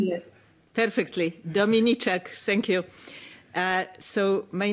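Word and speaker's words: Dominiczak: Sorry, I hope I'm pronouncing you perfectly. Dominicek, thank you.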